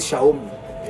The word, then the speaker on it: Xiaomi: And then of course in China you know how do you pronounce that word Xiaomi on the TV they pronounce it Shaomi on the TV.